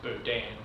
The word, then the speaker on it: Berdan: Now, the reason that there is these two types of cases, I think it's actually pronounced, I say Berdan, I think it's actually pronounced Berdan.